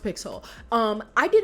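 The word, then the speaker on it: Pixal: pixel pix it's it's spelled pixel but it's pronounced pixel um I did not know who she was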